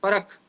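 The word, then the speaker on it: PARAKH: Spelling होता है पी ए आर ए के एच। हिंदी में ठीक लिखा है। पी ए आर ए के एच परख पी ए आर ए के एच परख ऐसा इसका प्रोनंसिएशन है।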